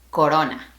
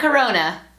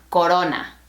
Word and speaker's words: Corona: La pronunciación correcta es Corona. Not Corona. Close your mouth a little bit more. Corona.